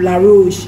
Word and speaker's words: La Roche: I know that it's very good it's um la rouge but that's how they pronounce it La Roche is this new brand that is that the